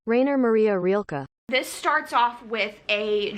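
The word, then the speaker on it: Rainer Maria Rilke: famous German poet uh Raynor Maria roelke sorry if I'm pronouncing that incorrectly this is how you pronounce it Rainer Maria rilka this starts off with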